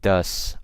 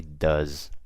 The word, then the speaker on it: does: you guys see um I'm pronouncing it now with an S but with a Z so I didn't say ghosts I say goes I don't say thus I say does okay makes a world